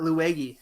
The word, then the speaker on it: Luigi: Uh Luigi. It's a it's a it's a hard G.